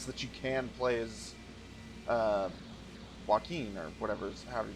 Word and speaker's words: Joachim: episode, and that's that you can play as Joaquin, or however you pronounce his damn name. I don't think he... Shit, goddamn it, motherfucker! Pronounced. Joachim.